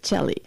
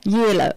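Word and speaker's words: Jehle: e hle e and Americans pronounce it like Chell not and how do pronounce it what yellow y the name yeah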